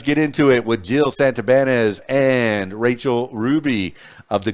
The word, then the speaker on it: Santibanez: Of course, I like to pronounce it the Spanish way since I'm half Cuban, Santibanez.